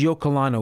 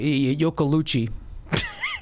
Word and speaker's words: Iocolano: Yeah, and which is Iocolano, which is pronounced perfectly. Yeah, but Iocolucci Like, didn't even try.